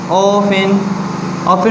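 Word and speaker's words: often: ऑफिन में जो है वो T साइलेंट है।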